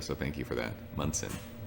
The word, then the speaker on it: Monson: I just learned that the correct pronunciation of what looks like Monson is actually Munson.